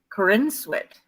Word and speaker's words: Corenswet: know that's my opinion having just looked it up on how to pronounce his name um so they could know this it's Corinne sweat for instance all right